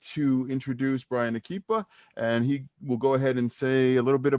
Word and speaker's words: Akipa: know, Bryan, if I say it wrong, Bryan Akipa. Yeah, that's correct. That's right, Bryan Akipa. He's running for, and now this is, I've heard people pronounce it differently, Haipa district councilman, but is it Haipa or is it Haipa?